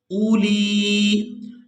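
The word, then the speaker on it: أُولِي: والارض جاعل الملائکۃ رسلا اولی۔ یہاں پر غلطی یہ کی جاتی ہے کہ حمزہ کے بعد ہے واو، یہ واو لکھنے میں آئے گی اور یہ پڑھنے میں نہیں آئے گی، تو یہاں ہم نے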